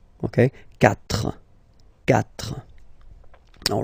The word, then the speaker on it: quatre: Quatre. Quatre. Okay? So remember that even if you get this u vowel here, basically you don't pronounce it, because that's the rule in French. When we get this q letter and then a vowel after, then we will have to put this u, okay?